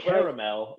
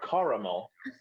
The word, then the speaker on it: caramel: say it, but it is always 3 syllables. Caramel sounds so much prettier. It can be caramel or caramel. Then I don't say it correctly at all. I just y'all cut out a whole syllable in it, so no, that does not work. No. That's the Midwest way of doing it.